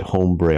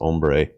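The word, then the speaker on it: ombré: your pocket that's not i said hombre on purpose i know it's ombre how is that scientific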